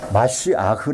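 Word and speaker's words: משיח: 것은 마쉬 하라고 하는데요 기름이 발려져 것을 히브리말로 마쉬 아흐 마쉬아흐 그러는데 보통은 그걸 뭐라고 읽죠 메시아 원래 마쉬아흐 히브리어에 그걸 이제 영어식으로서에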